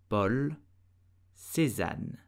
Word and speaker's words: Paul Cézanne: so he is really known worldwide and French pronounce his name season Paul season per season did you know that the painting